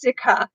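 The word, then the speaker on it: Cike: Okay, yeah, Mickey says it's Sikha. I was saying it right. Oh, I'm so proud of myself that I got it. I was pronouncing it right.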